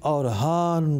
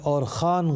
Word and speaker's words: اورحان: بن مراد الاول بن اورحان غازی، اور ایک تلفظ میں اور خان غازی بن عثمان غازی بن